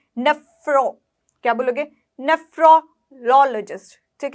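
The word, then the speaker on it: nephrologist: नीफ्रो नहीं है ये, अगर आप NE बोलो, नी नहीं है, नेफ्रोलॉजिस्ट, नेफ्रोलॉजिस्ट, नेफ्रोलॉजिस्ट, नेफ्रोलॉजिस्ट, नेफ्रोलॉजिस्ट। क्या बोलोगे? नेफ्रोलॉजिस्ट, नेफ्रोलॉजिस्ट। कैसे बोलोगे? नेफ्रोलॉजिस्ट। ना बोलोगे नेफ्रोलॉजिस्ट, ये गलत हो गया, ठीक है।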